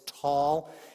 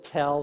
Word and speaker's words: tall: there by the way it's spelled tall that's because in arabic it's tall in israel it's tell with one or two l's take your pick but in arabic it's tall so i say tall oh mom not tall